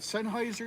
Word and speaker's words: Sennheiser: Sennheiser? Sennhauser?